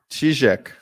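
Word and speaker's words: Чижик: Chizek, like Zhenya. Mr. Russian, thank you. Yes. You pronounce Zhenya correctly. It's the same as Chizek. Oh, ZH.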